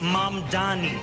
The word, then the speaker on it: Mamdani: And furthermore, the name is Mam Dani.